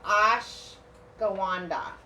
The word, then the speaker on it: ashwagandha: It's called the ashwagandha.